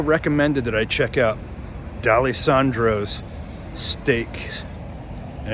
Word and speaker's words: Dalessandro's: How do you pronounce it? Dalessandro's? Dalessandro's.